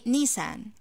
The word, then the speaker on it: Nissan: the pronunciation in english is close to our pronunciation in arabic so i say nissan nissan nissan for example he bought a nissan